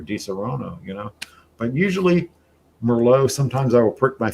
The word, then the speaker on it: Merlot: what do people say Merlot yeah they they pronounce the T yeah it's it's not Merlot it's Merlot it's there's no tea at the end you